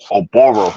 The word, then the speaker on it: OBaro: This your guy, Undercard in Boxing, bringing to you guys today an interview exclusive with light heavyweight prospect 7-0, 7 KOs, uh, OBaro.